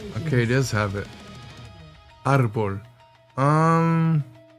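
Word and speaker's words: árbol: Wait, does tree really start with arbul? Arbul. Arbul arbul. Alexa, how do you say tree in Spanish? Okay, it does have it. Arbol.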